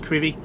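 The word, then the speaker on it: Crovie: the road now to crivi it's spelled c-r-o-v-i-e but pronounced curvy near Gardens town on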